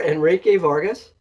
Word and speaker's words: Enrique Vargas: not from a school so you you are Enrique Vargas I pronounce that correct yeah look at director of